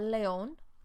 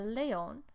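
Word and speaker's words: león: line would be el leon el leon with an accent on the o a snake is la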